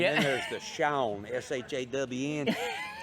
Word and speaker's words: Sean: then there's the Shawn, S-H-A-W-N. How you spell it S-E-A-N when it's Shawn?